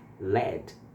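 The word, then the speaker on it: lead: É uma palavra que parece com liderar em inglês. É a mesma escrita, só que pronuncia diferente. Então você vai falar assim: "Led, led."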